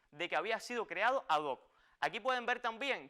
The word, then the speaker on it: ad hoc: pantalla la locución latina adoc que significa literalmente para esto como escuchó dije adoc y no ad hoc como a veces de manera indebida se pronuncia en determinados ámbitos vean aquí que la